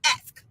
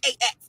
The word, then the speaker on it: ask: We gonna say ask. Not ask. Not AX. It's ask.